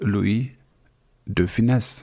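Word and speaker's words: Louis de Funès: Francuzi wymawiają to nazwisko poprawną wymową jest Louis de Funes to dlatego że on był z pochodzenia Hiszpan m i tak San Mateo to nazwisko i tak wymawiał a jego nazwisko większość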